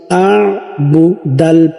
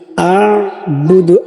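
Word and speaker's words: أَعْبُدُ: আ বুদু, আ বুদু, আবুদু বললে হবে না, আ বুদু, আইন। আমার সঙ্গে করার চেষ্টা করুন, উচ্চারণটা সঠিক করুন, আ বুদু, আ বুদু, লা আ বুদু। আবার পড়ুন, লা আ বুদু, বুদু টান হবে না, লা আ বুদু, লা আ বুদু।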